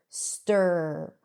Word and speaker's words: stir: Even though it's spelled with an I, you don't hear E, it's st-er, stir.